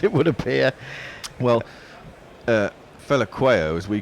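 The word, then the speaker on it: Phehlukwayo: Well, Fela Quayo, as we call him, is Fetla Quayo or something, isn't it? There's a T sound in there, even though there's an L.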